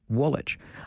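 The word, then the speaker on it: Woolwich: I've talked earlier today about the town of Elmyra in the township of Woolitch. I know that's not universally popular. I like dropping that second W.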